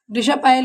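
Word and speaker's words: discipline: इसे बच्चे डिसिपल पढ़ते हैं, डिसिपल नहीं होता है, डिशपाइल होता है।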